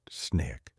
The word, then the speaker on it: SNCC: Out of that energy came the Student Nonviolent Coordinating Committee or SNCC, pronounced SNIK.